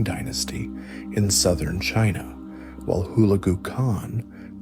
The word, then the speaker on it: Hulagu: He launched his brother Kublai Khan against the wealthy southern Song dynasty in China, and his other brother Hulagu Khan, pronounced Hulagu Khan, against the heart of the Islamic world, the Abbasid Caliphate in the Middle East.